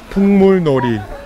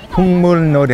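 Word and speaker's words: 풍물놀이: Pungmulnori. Pungmulnori. How do you spell that?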